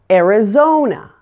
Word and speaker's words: Arizona: like in Alabama now Arizona there are two choir's in this one - the stress falls on the third syllable zone let's take a look at